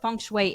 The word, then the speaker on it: feng shui: tell our listeners what Funway is okay well again I had to learn how to pronounce the word myself and you pronounced it very well a lot of people